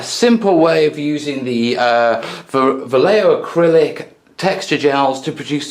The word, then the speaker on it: Vallejo: Yeah, in the meantime, I'm going to say it right, Vallejo Acrylics Water Features Set.